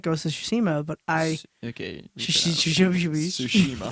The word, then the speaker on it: Tsushima: Tsushima, I maybe.